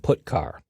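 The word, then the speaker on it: putchar: character io functions are get car and put car that's how I pronounce them get car fetches a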